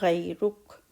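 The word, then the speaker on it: غيرك: Wa ta'ala jadduka wa la ilaha ghayruk. Ghayr, ra and ra both are heavy. So ghayruk.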